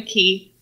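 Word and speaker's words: quay: Because there's actually a word that's called a key, that is spelled Q-U-A-Y, but pronounced, and it is part of a bay or a, and I didn't have to Google that.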